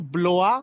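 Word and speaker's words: Blois: between you have TS you have blowa that's how you pronounce b o i s blow you have orac you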